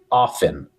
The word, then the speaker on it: often: Reparem aqui que no how often o t não se lê. Dizemos how often.